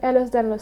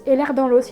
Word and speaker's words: Ehlers-Danlos: mistake in me, because Ehlers-Danlos in French kind of sounds like that you have air, like A-I-R, the thing you breathe. Sorry, I can't pronounce that word, air. It sounds like you have air in your bones. Air dans l'os, that you have air in your bones.